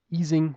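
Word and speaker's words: Ising: um the easing model. This is the way it's pronounced because this was a physicist who was born in Germany and then fled the Nazis to the US.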